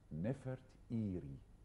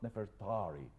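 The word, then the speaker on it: Nefertari: for his beloved wife nef eie not nefari there is no a in the name of this lady we are pronouncing her name wrongly oh there is no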